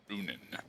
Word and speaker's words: Runin: It's almost like runnin', but it's Runin.